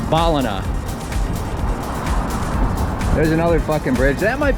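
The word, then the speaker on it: Ballina: say Brisbane Brisbane similarly it's not balina or balina it's balina there's another bridge that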